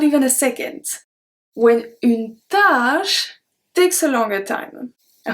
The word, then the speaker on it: tâche: Une tâche. It's a task. The other one is une tâche. Tâche, which is a stain. So une tâche with the accent circonflexe, we pronounce it longer because une tâche, a task, takes long time usually.